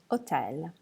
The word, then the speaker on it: hotel: Now H is special because it's never pronounced in Italian. So hotel becomes hotel.